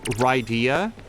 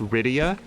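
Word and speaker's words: Rydia: my friends and I always called uh the character um ryia and now as an adult I suspect that it was probably it would probably be pronounced Ria r y d a i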